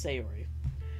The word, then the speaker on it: Sayori: Okay, it's Sayori.